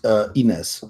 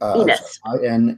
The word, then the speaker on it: Ines: Her name is Ines. Ines. Inas, All right. is what it's pronounced. Ines. Ines.